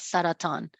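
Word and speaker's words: سرطان: is the Arabic word for cancer, which is pronounced as saratan.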